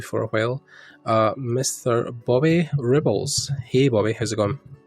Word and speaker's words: Rebholz: It's pronounced Rebholz. So I either get Rebels or Rebolts, because people like to put the T sound in between the L and the Z because they think it should be there.